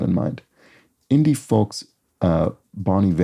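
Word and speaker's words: Bon Iver: Indie folks, uh, Bonny V, I think this is pronounced. funny thing where I sort of remember seeing the name of this band for a long time and just assuming it was Bon Ivor until I think years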